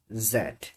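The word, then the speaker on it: Z: হবে ডবলিউ এক্স ওয়াই জেড এইজেড কে যারা British আছে ওরা এটাকে জেড উচ্চারণ করে এবং যারা আমেরিকান আছে তারা হচ্ছে জি উচ্চারণ করে।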